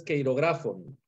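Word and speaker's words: χειρόγραφον: Te ayudo con la pronunciación. Esa palabra es queirografon.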